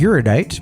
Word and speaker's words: erudite: I had to look up how to pronounce it because I've read it a bunch of times. But yeah, erudite is the way to say it as I understand it.